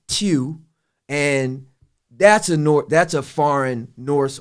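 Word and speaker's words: Tiw: It's actually pronounced Tew, and that's a foreign Norse or northern god.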